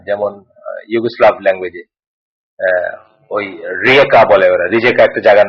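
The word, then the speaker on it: Rijeka: আপনি জানেন যে ওয়েস্টার্ন অনেক ল্যাঙ্গুয়েজে যেটা উচ্চারণ হয় না, যেমন ইউগোস্লাভ ল্যাঙ্গুয়েজে ওই রিয়েকা বলে ওরা, রিজেকা একটা জায়গার নাম আছে রিয়েকা,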